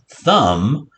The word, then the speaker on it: thumb: dictionary spelling of thumb thumb ends with a silent b so we're going to